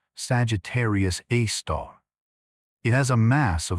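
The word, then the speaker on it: Sagittarius A*: At the heart of the Milky Way, about 26,000 lighty years from Earth, lies a super massive black hole called Sagittarius A, pronounced Sagittarius A star.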